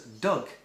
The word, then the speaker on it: dog: it's still pronounced polis they pronounce dogs a dog as doug d-g doug you know oh you've